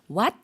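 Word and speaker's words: หวัด: 그래서 사원 발음할 때는 삼성으로 what 이라고 올려주었다면 감기의 경우에는 일성으로 밑으로 내리는 형태로 발음해 주시면 되겠습니다. 그래서 발음이 what. 예, 태국어는 성조 언어이기 때문에 성조에 따라서 뜻이 달라지는 거 알고 계시죠? 그래서 what, 사원이라는 단어와 what, 감기라는 단어 성조 구분해 주시고요.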